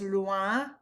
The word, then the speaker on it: loin: Remember the OI says wa, so it's loin.